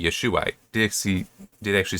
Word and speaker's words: Yeshua: It would have been if you pronounce it that way, it would be Yeshua.